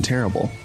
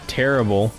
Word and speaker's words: Terrible: in question is uh terrible i believe it's actually uh supposed to be pronounced in the in the french way so it should be like tarib or something like that